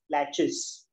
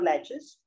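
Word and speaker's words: laches: is a concept of what is known as latches it's spelled as l a c h e s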